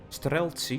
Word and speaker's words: Streltsy: Streltsy, yeah, that's how you pronounce it.